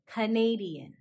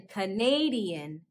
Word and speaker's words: Canadian: from canada are called canadian canadian notice how in canada the second syllable is a schwa but in canadian canadian the second syllable is pronounced a a canadian up next